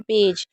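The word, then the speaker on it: badge: जैसे इसे क्या पढ़ रहे हैं, बेज, तो यहाँ पर डी नहीं पढ़ा जा रहा।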